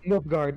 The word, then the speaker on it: Nilfgaard: It's pronounced Nilfgaard.